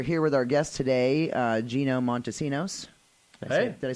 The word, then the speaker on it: Gino Montesinos: lately we are here with our guest today Gino Montesinos hey did I say it right perfect awesome